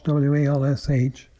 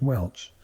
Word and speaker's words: Walsh: you're doing any research the name walsh w-a-l-s-h in america is pronounced walsh in ireland that's pronounced welch because it means either